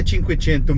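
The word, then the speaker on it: Cinquecento: correto deste carro e como o nome próprio a gente pronuncia sempre na língua de origem é tico tinto mesmo o que tem de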